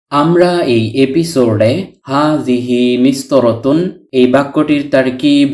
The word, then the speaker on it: مسطرة: তাননুন ব্যতীত শুধু মিস্তরহ শব্দটির অর্থ হল রুলার স্কেল যা দিয়ে রেখা টানা হয় ইত্যাদি। হারাকাতুন উচ্চারিত না হলে এই গুলতাটি বাংলার হ বর্ণের উচ্চারণ দেয়। তাই মিস্তর উচ্চারণ করেছি।